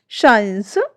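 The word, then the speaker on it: science: जब एस के तुरंत बाद सी आता है तो अक्सर सी जो हमारा है वो साइलेंट हो जाता है। एग्जाम्पल देखिए, मसल्स, शाइन्स, सीन, सेंट।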